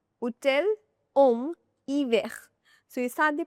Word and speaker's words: hiver: Homme, hiver. Hotel, homme, hiver. So, you start the pronunciation directly from the wall. You don't start it from the H. H is never pronounced. It is always silent.